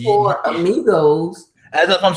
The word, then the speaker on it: amigos: You speak English that bad that you can't even take a Spanish word that's commonly used in English language and say the A. It's amigos. It's not that hard. It's three syllables.